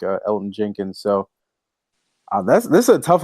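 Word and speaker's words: Elgton Jenkins: Elton Jenkins. Yeah, there you go. The G is silent.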